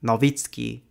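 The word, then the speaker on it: Nowicki: I just real ized noi or novitzki as it should be pronounced is a very polish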